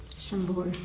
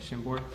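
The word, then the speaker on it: Chambord: Shambbor. Shambbor.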